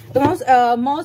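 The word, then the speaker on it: Maus: মস নিয়ে কথা বলেছি মস বা মাউস দুটোই আমরা উচ্চারণ করতে পারি কমপ্লিট মস এটা দুটো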